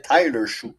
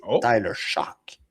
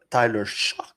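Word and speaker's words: Tyler Shough: Depuis le début, je l'appelais Tyler Shoot. Mais apparemment que c'est Tyler Shock. Ah ouais, même si ça finit par GH puis prononce comme j'écoute des podcast en anglais.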